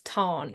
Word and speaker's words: Tahn: And then I'd kind of gone through your Instagram and you'd spoken about how it is Tarn, it's not Tan.